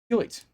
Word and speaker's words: Hewitt: Hewitt. Hewitt? Hewitt. Hewitt. It's easiest to pronounce almost as if it's a cough.